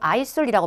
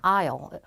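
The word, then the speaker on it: aisle: 근데 이걸 아이슬이라고 발음하면 큰일 난다? S가 묵음이야. 아요.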